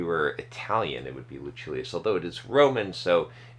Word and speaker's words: Lucilius: I did confirm the pronunciation of Lucilius. It is Lucilius, as I thought. It's not Lucilius. If we were Italian, it would be Lucilius, although it is Roman, so it does make you wonder a little bit.